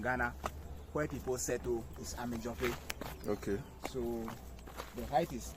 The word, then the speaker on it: Amedzoƒe: Okay, so the name of the town is called Amedzoƒe. Amedzoƒe. Yes, it's the name of the town. So it's an Ewe pronunciation.